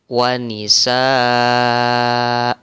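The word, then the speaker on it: ونساء: ini kan ada kalimat wa nisaan Nah kalau kita berhenti pada huruf hamzah yang berbaris 2 di atas ini maka bacanya wa Nisa kemudian ini contoh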